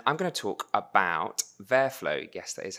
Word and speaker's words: VertFlow: in London and I'm going to talk about verf flow yes that is how you pronounce it which is an operator a task